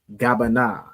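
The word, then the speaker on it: גבינה: Gabana. All right. So, gabana is cheese in Hebrew. All right. Let me put it on here. So, you have ga and then the at the end, right? Gabana. Okay.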